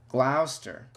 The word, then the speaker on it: Gloucester: the following pronunciation is brought to you by pronounce names calm thank you but I wanna learn Gloucester Gloucester Gloucester Gloucester Gloucester Gloucester Gloucester Gloucester ok agging